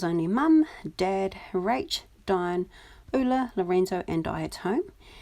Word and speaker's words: Ulla: Her name is actually pronounced Ula, but we've always just called her Ula since we were young.